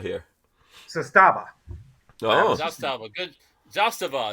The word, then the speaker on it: Zastava: Zastava is how you say it, actually. Zastava.